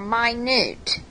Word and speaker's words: minute: Minute or minute. M-I-N-U-T-E, pronounced minute, very small.